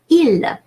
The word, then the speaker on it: il: Now, let me show you how the rules of pronunciation are reflected in the words from this sentence. Il.